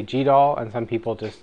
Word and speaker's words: GDAL: and this is where it's tough about um pronunciation it's g d l and some people say G and some people say G doll and some people just say the letters so